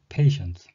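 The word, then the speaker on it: patients: 예 본문에도 애가 나왔습니다 페이션트 쓱 아이언 페이션트 스가 아니고 패션 스 티 를 강하게 할 수도 있고 티를 약하게 하면 펜션즈 이렇게 들리며 섹스 로또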